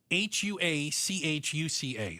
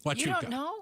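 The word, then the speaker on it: Huachuca: Um, it's pronounced hua cua. Fort I couldn't. Oh, really? No. Wuka.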